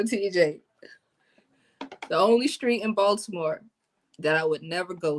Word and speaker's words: Baltimore: Uh, I guess a street that I wouldn't go to after 8 o'clock in Baltimore, because I'm saying it wrong. It's Baltimore. The T is silent.